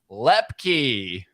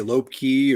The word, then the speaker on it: Lepke: man it's all right usually people say lope key or lipenski or they even called